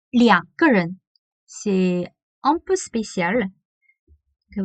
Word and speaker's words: 两个人: Et en chinois, on prononce pas 二. On dit pas 二个人, on dit 两个人.